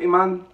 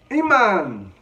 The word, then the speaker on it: Emanne: it another AGT video this is Iman I believe it's pronounced Iman 10 year old singer